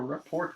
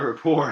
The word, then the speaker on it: rapport: you really grow a report with him a a rapport iort the te is silent that but you could